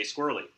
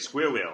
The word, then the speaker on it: squirrel: Uh, search on YouTube for Germans trying to pronounce squirrel. So, I grew up in Germany, so I I like to pick on my German friends this way.